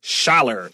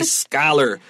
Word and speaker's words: scholar: Over scholar, the CH, write the letter K so we don't say something silly like schaller. This is a scholar. CH with a K, like my name.